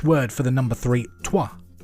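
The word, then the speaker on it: trois: Tua. T R O I S. Apologies to French listeners. I'm probably pronouncing that horrendously wrong, but it's it's unto, isn't it?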